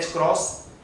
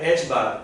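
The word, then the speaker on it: ħ: h upon 2 पाई, इसको pronounce करते हैं h क्रॉस या h बार, और कुछ नहीं है, ठीक है ना।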